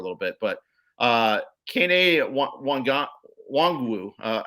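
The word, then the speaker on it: Nwangwu: bit but uh caney wong wu uh i think it's wong wu is how you pronounce it i think the uh the inn is silent but this is two touchdown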